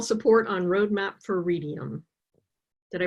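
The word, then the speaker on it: Readium: James math ml support on road map for radium did I pronounce that right that's correct I was just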